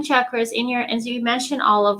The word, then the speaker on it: chakras: what the chakras are, people do pronounce them chakras, but it is chakras, for originally a Sanskrit word, but you just succinctly put how it works.